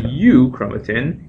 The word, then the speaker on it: euchromatin: When it's loosely associated, it's called euchromatin, and you can remember this with the mnemonic, heterochromatin is highly condensed, and euchromatin, eu rhyming with true, truly transcribed.